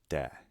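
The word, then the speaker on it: δέ: tos au tay auta next we have a new letter this is delta which is pronounced like the english letter d and an epsilon which is pronounced a is in pet this is then pronounced de okay this word begins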